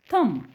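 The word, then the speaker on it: thumb: tenth tenth थंब थंब तुम्हाला माहिती आहे एम च्या नंतर बी असेल तर बी साइलेंट मग याचा उच्चार करायचा थंब थ म इट्स थंब थंब ब म्हणायचं नाही इट्स थंब थंब सो हा थ आणि म साऊंड करा सिम्पली ओके सो स्टुडंट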